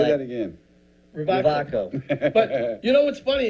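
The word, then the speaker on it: Rewaco: It's called Ravaco, I think, but it's spelled R-E-W-A-C-O. Say that again. Ravaco.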